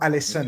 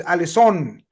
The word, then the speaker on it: Alisson: and foremost, did you notice the commentator saying Alisson? His name, how it's supposed to be said. Did you notice that? Anyone else, guys? He was being referred to as Alisson, not Alisson. Okay. So it's Alisson, and that's I've been told by my South